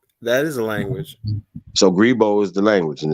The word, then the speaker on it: Grebo: are called the gribble people how do you spell that g-r-e-b-o g-r-e-b-o b-o okay i seen that somewhere right grebo right so um what's the what's what's the what's that language that is a language so gribo is the language and it's spelled g-r-e-b-o okay